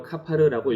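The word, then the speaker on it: כפר: 속죄라는 단어는 히브리어로 카파르라고 읽으며 그 뜻은 덮는 것을 말합니다.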